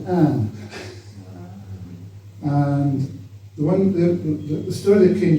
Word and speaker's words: Avon: Now, if you stick H's after a letter and a consonant in Gaelic, the same thing happens as happens in English. The consonant sounds different, or it may disappear. So, Anne.